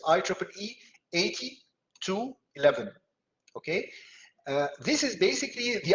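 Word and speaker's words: IEEE 802.11: it's it's pronounced like this i triple e 80 to 11.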